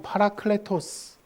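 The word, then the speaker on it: παράκλητος: 여러분, 헬라어로 이 보혜사는 파라클레토스. 한번 따라합시다. 파라클레토스. 예, 파라클레토스.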